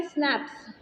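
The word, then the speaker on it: Schnapps: अब यहाँ पे स्नैप्स, प्रोनाउंस्ड स्नैप्स, अब इसको प्रोनाउंस तो स्नैप्स ही करेंगे।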